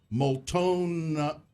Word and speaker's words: Multnomah: When Gina decided to come out and forget what a T is in Multnomah Falls, advertisements.